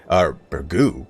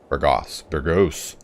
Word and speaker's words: Burgos: Burgos? That is not even how you pronounce it. Burgos.